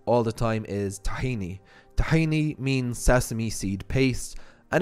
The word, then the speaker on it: tahini: seed paste and again it's probably better to pronounce it tahini or tahina unless you see that the owner is from an Arab speaking country and then he's probably gonna love your mizraki accent okay next one is